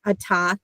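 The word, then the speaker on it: אתה: you are now learning, the hey at the end of a word is a silent. And I know there's lots of words. Don't worry about that yet. I'm just saying that you now know your first word, a ta, you for male.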